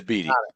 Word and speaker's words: Beattie: I mean, am I pronouncing that right? Beattie or is it Beattie? It is Beattie.